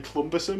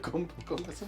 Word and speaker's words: cumbersome: Basically, Phil likes to say clumbersome instead of cumbersome.